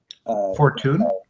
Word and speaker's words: Fortuyn: Fortuyn. Fortuyn. Yeah, Fortuyn. I'll just look up the pronunciation.